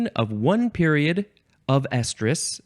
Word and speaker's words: estrus: That's one estrus cycle. Estrus, that's how it's pronounced, and I think the other one that's coming up is also pronounced the same way.